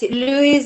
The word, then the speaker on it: Luis: how to pronounce your name how do i pronounce is it louie can people hear me you're right yes louise and milt oh it's mutant but it's louis